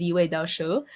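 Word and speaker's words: 紫微斗數: I'm so sorry, I cannot pronounce Chinese, but how I know it's pronounced is Ziwei Dao Shu, which means that's the personal astrology system.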